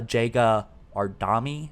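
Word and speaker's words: Jega 'Rdomnai: seen a few boss battles we know uh jega ardami is actually how you pronounce it i guess that's how the weapon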